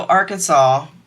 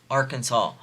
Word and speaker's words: Arkansas: mots Etc states that Arkansas should be pronounced in three syllables with the final s silent the a in each syllable with the Italian sound and the accent on